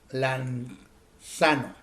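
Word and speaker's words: λανθάνω: Se escribe L-A-N-D-S-A-N-O, lanzano.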